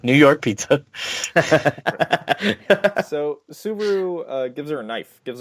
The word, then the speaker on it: Subaru: interaction with him she and she runs into Subaru who in the English dub is pronounced by somebody who's never driven a Subaru or seen a subaru or heard subaru because they pronounce it as simbari oh yeah almost like the